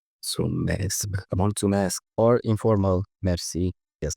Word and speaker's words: mulțumesc: It's not pronounced multimesc. It's pronounced mulțumesc.